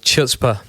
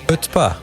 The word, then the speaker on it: chutzpah: 2009, they bring out an album called Chutzpah. How do you pronounce that? Chutzpah.